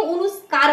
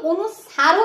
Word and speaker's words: অনুস্বর: বলে থাকি কিন্তু দেখবে কেউ অনুস্কার বলে কেউ অনুস্ার বলে কিন্তু অনুস্বারও নয় অনুস্কার নয় এটাকে আমরা কি বলে থাকি অনুস্বর বলে থাকি ঠিক আছে তো এই